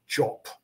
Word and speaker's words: Diop: We say Diop in the English-speaking world, but French people have told me it's not pronounced that, it's pronounced Jop.